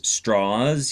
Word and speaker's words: Strauss: seen the movie, Louis Strauss. He pronounced his name Strauss. That was allegedly the southern pronunciation of what looks like Strauss.